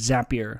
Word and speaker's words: Zapier: people call it zapier I asked the folks there how to pronounce it and it's zapier like happier a good way to